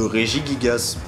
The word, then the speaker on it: Regigigas: différente et du coup lorsqu'on rassemble ces deux partis ça donne régis gasse déjà je vais pas vous mentir que samaranch choc parce que je l'appris est en plus assez compliqué à prononcer mais bon faut s'y faire c'est officiellement la roseraie de régis gasse bon c'est vrai qu'au